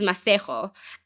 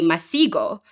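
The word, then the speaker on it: Masego: And his name is Masejo. And he detailed how when he was growing up in school, teachers and students would have an issue pronouncing Masejo. They would say Masigo.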